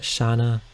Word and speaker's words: Shana: S-H-A-N-A. Now, I know there are some comments. I know some of you will comment and say, that's pronounced Shana. Well, I like how Shana sounds.